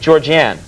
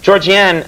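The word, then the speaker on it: Georgianne: film and the world of television your wife georgian am i pronouncing it correctly yes georgie anne i didn't know this but she's the woman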